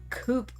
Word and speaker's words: coup: Coupe. But a coup is spelled differently.